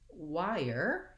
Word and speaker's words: wire: And then going back to wire, here we have the I diphthong into the R.